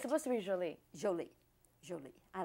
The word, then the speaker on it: Jolie: angelina hi jolie yes the emphasis on the joe jolie joey jolie yes because